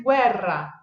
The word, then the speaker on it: guerra: Então, uma vez que a gente aprende esses sons, a pronúncia fica muito fácil, gente, tá? Então, vamos lá. O exemplo do gue vai ser guerra, guerra.